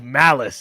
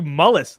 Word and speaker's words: Malice: It's so funny because they call him Mullis all season, and then he's like, "My name is Malice," and he's like, "What? We call you Mullis, like the snail, mollusk."